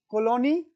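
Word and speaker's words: Cologny: world economic Forum headquarter colony colony in Geneva Switzerland y Colony g is silent so Colony nature an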